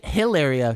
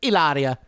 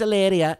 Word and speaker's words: Hilaria: and i'm not just she doesn't even say hilaria she says ilaria eleria eleria it's spelled hilaria but she says it's alleria and then her name's